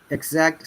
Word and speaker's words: exact: Now, exact starts with E, but sounds like I.